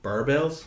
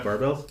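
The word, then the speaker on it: Barebells: I was meant to have a photo shoot with the protein bar company Barbells. That's what it's pronounced. Yeah. Barbells.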